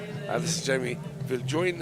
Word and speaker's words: Viljoen: This is Jamie Viljoen, it's spelled J-O-E-N, but I think it's pronounced Viljoen, so kia ora to Jamie's whānau as well.